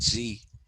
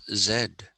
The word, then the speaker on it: Z: say oh z250 and i tell them wait a minute you're not you're not americans why are you calling it zee we are indians we have always called this zed so we should be